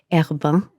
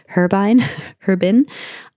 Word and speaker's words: Herbin: Now, the person in Cinedia recommended this, and I did tell him that I usually use Herbin, I believe is the French pronunciation, Herbin.